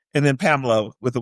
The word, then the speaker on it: Pamelya: her to heaven because your name is spelled A A is pronounced Pamela, but she put the in there.